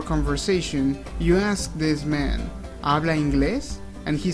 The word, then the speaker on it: y: important word to know this is how you say and in Spanish e e e that's pretty much it e now try to